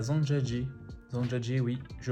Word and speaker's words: Zhangjiajie: Nouvelle étape, direction Zhangjiajie. Ouais, pas facile à prononcer mais impossible à oublier.